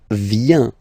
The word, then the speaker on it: vient: Then il, elle vient. Final T not pronounced.